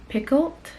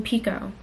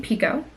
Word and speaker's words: Picoult: are going to read Mad Honey by Jodie Pickled. Pause. Let me go see how to pronounce her name. Pause. Pause. Pause. Pause. Pause. That's really crazy because if you didn't know, she pronounces her last name Pico, as in Pico Deayo.